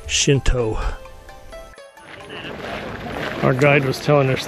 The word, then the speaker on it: Shinto: really good dessert we are walking to the shinta shrine shinta have shrines Buddhas have temples it's actually pronounced Shinto our guide was telling us the Shinto shrines